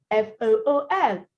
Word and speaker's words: fool: F-U-L-L, full. F-O-O-L, fool. There's the disparity, the difference, it's clear.